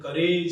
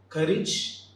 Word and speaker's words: courage: is courage and heritage often we pronounce these two terms like courage and heritage age should not be the end the end should be courage and heritage hope you